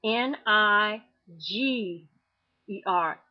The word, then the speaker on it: Niger: Now, you see on my website where it says Niger is pronounced N I G E R.